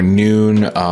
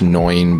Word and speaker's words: Noin: Next up is Noin or Noon. In Japanese, it's pronounced Noin, but yeah, it kind of looks like it's spelled Noon, so or Neon.